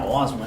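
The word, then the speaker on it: Haussmann: Porque aquele que eles falam Osman, ele era Osman, né? Mas a pronúncia afrancesada, o tal barão que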